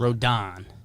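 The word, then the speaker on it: Rodón: Rodent? I always said Rodon. Rodon. But I was listening yesterday. It's Don. Rodon. Yeah. The Don.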